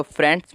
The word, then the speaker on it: friends: तो फ्रेंड्स में आप देखोगे, फ्रेंड्स में कि इसमें जो ये है फ्रे आई की साउंड नहीं आ रही है, क्योंकि इसमें हमारा जो आई है वो साइलेंट है, तो इसीलिए इसकी साउंड